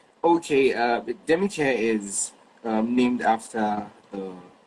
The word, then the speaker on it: Demicare: It's demi demi care. What does it mean? Okay. Uh demi care is um named after the princess of the house.